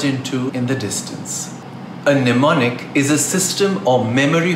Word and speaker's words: mnemonic: On the other hand, mnemonic has a silent M and the first part of the word is pronounced nem, rhyming with M.